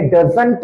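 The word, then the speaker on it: doesn't: तो डजंट पढ़ने के लिए डजंट नहीं बोलना है। डजंट। T must be silent over here. तो टी को साइलेंट रखना है।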